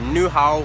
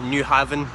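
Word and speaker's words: Nyhavn: literally like fake grass my destination is going to be new how or new Harbor I was pronouncing it New Haven but what do I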